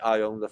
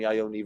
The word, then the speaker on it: Iommi: Why does Martin call Tony Iommi phony? Because Tony Iommi rhymes with phony.